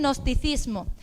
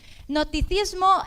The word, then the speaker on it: gnosticismo: poco raro de pero la g no se pronuncia el gnosticismo Amén cetismo y serianismo Aleluya bien qué pasa en ese tiempo surgen nosticismo nosticismo es que se cree